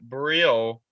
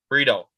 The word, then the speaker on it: Brito: So the pitch count for that Brio, right? Is that how you pronounce his name? Brito.